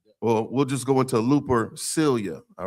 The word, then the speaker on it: Lupercalia: It's pronounced Lupercalia. Lupercalia.